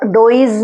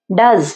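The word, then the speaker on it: does: डज, ये डज, यहाँ पर ई डोइज नहीं है, ये डज, यहाँ पर ई साइलेंट है, ठीक है।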